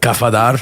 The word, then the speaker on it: Kafadar: with my main man pots and pin kafadar AKA what's happening baby how's everything bro did I pronounce that right oh you got it kafadar yes sir well thanks for coming man it's